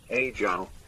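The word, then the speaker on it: ejiao: it's the mandarin one brian scuffs it a little bit but it's pronounced roughly age i don't think maverick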